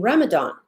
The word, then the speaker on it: Ramadan: a DNA whichever way it's still pronounced Ramadan as if it were a th that is the proper